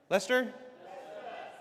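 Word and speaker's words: Leicester: Lester.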